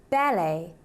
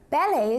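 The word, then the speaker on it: ballet: here are some examples balle balle is French in origin which is why we don't pronounce the T when we say it Det Det comes from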